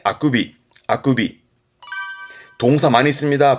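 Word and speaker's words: 欠伸: 발음은 아쿠비. 이건 통째로 기억해 두시는 거예요. 특별음으로써 통째로 기억해 두시는 하품의 아쿠비.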